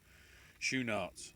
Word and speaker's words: Schoenaerts: Okay, Schoenaerts, according to the pronunciation on Wikipedia. S-H, U as in goose, N as in nigh, and then A as in, or the AR as in far, So, Schoenaerts. That's how it's pronounced apparently.